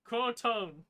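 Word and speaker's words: Croatoan: It's crowone. Croatone. There you go.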